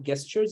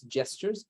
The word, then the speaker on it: gestures: want to say gestures it's pronounced the j and not with the g so it's not gestures it's gestures so think of it